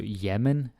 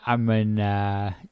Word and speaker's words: jamen: Okay, go down to jamen. Jamen is interesting. Some people, they might say it as amen. I think I do that sometimes. It happens. Jamen.